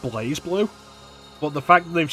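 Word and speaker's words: BlazBlue: AOS Soul so it's okay I know it's pronounced blaze blue but the fact they've spelled it Blast blue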